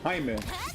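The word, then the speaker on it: Jaime: younger I went by Jamie because it was hard to read for people. Uh it's it's spelled J A I M E and it's pronounced Hime cuz it's Spanish.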